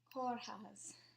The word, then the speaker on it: Kórház: This is the Hungarian word for hospital, and it's spelled K-O with the accent. And if you know Irish, it's the same accent as a fada. If you know French, it's the same as an accent aigu.